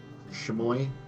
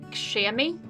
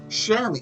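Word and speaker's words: chamois: Like there's a cloth called a shem or shmoy. Shamoi. Oh wow. There's a word I don't know how to pronounce. Shammy. Shammy.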